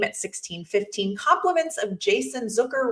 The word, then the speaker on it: Zucker: Compliments of Jason Zucker rhymes with hooker from the top of the circle.